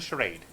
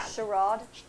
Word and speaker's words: charade: I'm gonna drop the charade. Cal. Charade. Charade. That's how you say it.